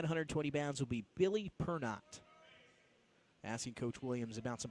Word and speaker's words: Pernot: George's at 120 pounds will be Billy Pernot. Asking Coach Williams about some pronunciations there before we got started, and he said, nope, not Pernod.